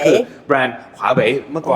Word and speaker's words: Huawei: ฮูก หรือ หอ หีบ แต่ ใน ความ เป็น จริง แล้ว ถ้า จะ ออก เสียง ให้ แบบ เี จริง ๆ เ จะ ออก ขวา ขวา อ้า ใจบ ขาก อ่า มี ขาก นิด นึง แต่ อย่า อย่า ขาก เยอะ เกิน ไป อ่ะ ขวา เว เหว โอเค ขวา เห